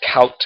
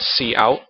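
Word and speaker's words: cout: the output we write C out and that is not pronounced count it's pronounced C out and then the Syntax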